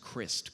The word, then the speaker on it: Crist: Like my last name was pronounced Crist. Crist is how you pronounce my last name. Telemarketers like would always call the house. They'd be like, "Is Mr. Christ there?"